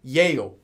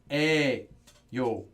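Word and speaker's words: 이에요: yo this pronunciation however it is written as Yael no one says Yael everyone says hey yo just know that Anita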